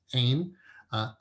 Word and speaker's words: Ain: It's not Ayin, it's Ain.